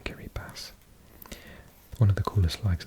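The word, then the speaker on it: Kiribati: flag Central isn't it so you got carry pass written Gary party thanks to my subscribers for confirming that that's the pronunciation carry pass one of the coolest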